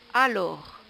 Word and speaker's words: alors: Alors, alors, nous voyons bien qu'il y a un S à la fin que l'on ne prononce pas.